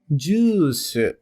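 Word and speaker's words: ジュース: pela partícula o e atente-se à pronúncia pois há um prolongamento do som do d ficando Ju por fim o verbo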